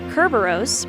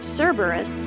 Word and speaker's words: Kerberos: Kerberos in Greek mythology Kerberos better known by the common mispronunciation of his name Cerberus is Haiti's dog who